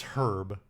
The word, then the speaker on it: Herb: I did say at the beginning it's Herb, but I'm not pronouncing that H that strong either.